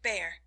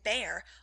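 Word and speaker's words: Bhaer: at his horrid name it isn't pronounced either bear or beer as people will say it but something between the two as only germans can give it i'm glad you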